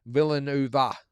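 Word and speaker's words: Villanueva: to beat Valenu think sorry Villanuva is the way you pronounce it so apologies about that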